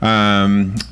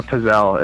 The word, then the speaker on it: pizzelle: Pizel s'mores. Am I saying it right? Pizel? What is a Pizel? Pizza? A pizzelle.